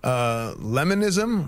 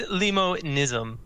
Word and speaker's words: Limonism: Lemonism, or is it limonism? It's limonism. Oh, limonism.